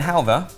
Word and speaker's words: halwa: And again, halwa, which we're putting a V in, despite the fact it's spelled with a W.